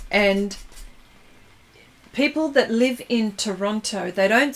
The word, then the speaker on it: Toronto: Yes, Chrissy, we don't pronounce the last T, see? Toronto, you say Toronto.